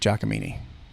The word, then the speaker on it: Giacomini: So I'll shout out on the air Frank Giacomini. Okay. And I'll spell that for you because it's Giacomini. It's like Cacciatore. It is like Cacciatore.